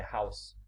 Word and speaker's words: house: A palavra house, por exemplo, tem um E mudo no final, e a pronúncia correta é house, como se a última letra estivesse inexistente. Mas a maioria dos brasileiros fala house em vez de house.